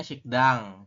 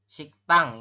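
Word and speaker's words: 식당: ini artinya adalah Restoran tulisannya sikdang kita bacanya sik siktang ingat-ingat ya Kenapa siktang karena digetnya jadi sang Diget ya giok di akhir bertemu dengan Diget maka Diget berubah bunyi jadi sang Diget bunyinya jadi t sik tang seperti itu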